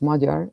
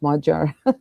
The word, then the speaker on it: Magyar: and Peter Magyar, it's Magyar, like hodgepodge, Magyar. Magyar. Magyar, exactly. Exactly. That that gy is actually a letter in the Hungarian alphabet, and it's pronounced like a dg in English, okay?